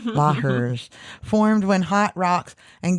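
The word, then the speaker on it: lahars: La hairs, which I also phonetically spelled out, Laairs. Lahers formed when hot rocks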